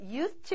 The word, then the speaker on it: used to: 예, used to 이렇게 하지만 여러분이 이 D가 있다라고 생각하셔야 돼요.